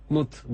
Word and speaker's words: mute: doya doya Gülün basmayın muteye Mut diye okunur da ben hani mute yazıyor cihaz üstüne diye söyledim yok çok Teşekkür ederim Kolay